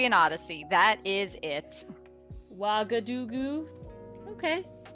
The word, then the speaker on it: Ouagadougou: Ouagadougou. That's how I say it. That's how I pronounce it.